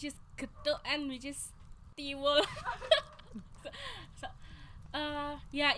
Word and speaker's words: tiwul: I love tiwul. Yeah. Okay. What? How did you pronounce it? Tiwul. Tibu. Tiwul. Tiwu. Tiwul.